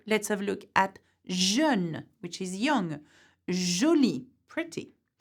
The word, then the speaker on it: jeune: The letter J in French is J, but it is pronounced je in words. So let's have a look at jeune, which is young, jolie,